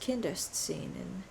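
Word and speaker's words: Kinderszenen: kindergarten hi editing leah here and it's actually pronounced kindest scene and it is in german scenes from childhood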